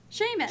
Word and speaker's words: Seamus: Sheamus. Sheamus. There's no H in that name.